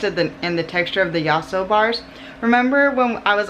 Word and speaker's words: Yasso: The Yasso bars are better. The Yasso bars, I believe, were made Y-A-S-S-O, by the way. I think that's how you say it, Yasso. Let me know if I'm wrong.